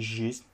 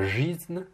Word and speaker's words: жизнь: жизни, il faut, donc quand tu as un i après un g, tu dois le prononcer comme un ui. Donc c'est pas жизнь, mais жизнь. Et aussi, tu as oublié de mouiller le n.